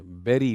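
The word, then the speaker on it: bury: Buffet buffet तीन बार बोलना। तो that is बुफ। बेरी yes this is बेरी। किसी को दफनाना बरी नहीं होता। यह बेरी होता है।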